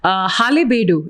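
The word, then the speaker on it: Halebidu: Halebedu, is that how you pronounce it?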